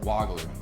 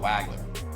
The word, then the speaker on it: Wagler: My last name is actually pronounced Wagler and not Wagler.